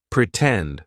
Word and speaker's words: pretend: Pretend, for example. In the word pretend, the stressed syllable starts with T, tend, pretend, right? So, we're going to use the true T sound, and then we can